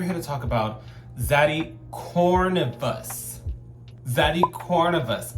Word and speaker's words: Corvinus: I got it correct this time, Nico. Last time I called him Cornivorous and everybody was laughing and cackling, but I genuinely could not pronounce his name. But Corvinus.